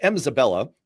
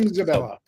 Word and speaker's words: Mzabella: First of all, it's Mzabella, clarifies Mzabella. Mzabella. So we both put the wrong emphasis on the wrong syllable.